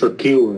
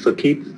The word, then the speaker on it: circuit: Đấy, từ này là một cái từ mà Việt Nam mình rất nhiều người hay đọc nhầm này, là circuit, nhưng phải từ này phát âm đúng tiếng Anh là circuit.